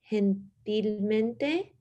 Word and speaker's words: gentilmente: So the G in Spanish has like an H sound. So it's like gentilmente.